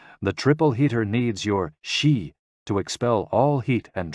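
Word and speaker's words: xi: with the spleen and x-i pronounced like she which connects the whole body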